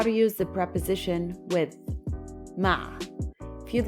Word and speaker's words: مع: Arabic is ma ma try to pronounce the ein ah constrict the airflow in your throat to make the sound ah ah ma ma using